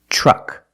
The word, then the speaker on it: truck: Another situation where T makes a ch sound is TR. When you have TR together in any situation, you can pronounce it ter, but usually we don't. We pronounce it ch plus the R sound, chur. Example, train, truck, tree, and travel.